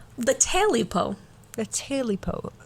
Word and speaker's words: Tailypo: t-a-i-l-y-p-o okay so yeah quite literally a taily Poe Taylor po yeah oh